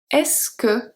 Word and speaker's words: est-ce que: So, tu es prête becomes est-ce que tu es prête? And it's pronounced est-ce que.